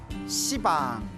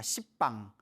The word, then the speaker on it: 시방: 시방, 모든 공간을 가리켜 시방이라고 하는데요. 원래 한문으로 쓰면 열십자의 방위방자, 그래서 원래는 십방입니다. 십방. 근데 십방 하면 좀 너무 욕 같지 않습니까? 발음이 너무 억세가지고 이제 시방이라고 표현을 합니다.